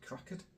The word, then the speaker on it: crackered: And crackered rhymes with knackered.